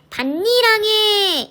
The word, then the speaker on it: 밭이랑: 그런데 기역은 발음이 밭이랑이라고 선생님이 발음을 했고요. 니은은 발음할 때 밭니랑에 이렇게 발음을 한 거예요.